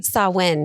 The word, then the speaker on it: Samhain: Sawin. Right. Okay. Yeah. Perfect. I love that. In ancient Celtic languages, the MH is a W.